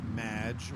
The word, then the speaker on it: Madge: It's Madge, which rhymes with badge, as in duh, and no as...